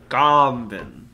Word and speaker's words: Garmbin: Garmbin. Like, you started to say Garfield and then you have to think of another word halfway through.